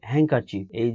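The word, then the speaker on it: handkerchief: আবার ধরো হ্যাঙ্কারচিফ, HANDKER CHIEF, এখানেও কিন্তু আমরা ডির উচ্চারণ করি না।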